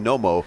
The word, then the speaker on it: Knomo: real quick why the name Nomo so K is silent how'd you come up